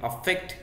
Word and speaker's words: affect: Pronunciation में भी अंतर है, अफेक्ट AFFECT एंड इफेक्ट, लेकिन दोनों के मीनिंग में बहुत अंतर है.